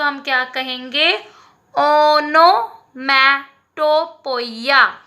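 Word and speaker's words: onomatopoeia: तो हिंदी में अगर उसको प्रोनाउंस करना हो तो कैसे करेंगे? ओ नो, ना पे नो, ओ की मात्रा, ठीक है. ओनोमैटोफोइया. क्या कहेंगे? ओनोमैटोफोइया, या पोइया भी कहते हैं हम, पोइया कहेंगे. ओके, ओनोमैटोपोइया.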